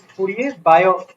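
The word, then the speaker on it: Fourier–Biot: Here also, pronunciation wise, it is not Biot. The T is silent. It is Fourier-Biot equation.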